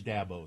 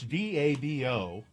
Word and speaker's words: Dabo: See, it's D A B O. So, it's either dabbo or dbo. Jimmy John says da like dad bo without the d.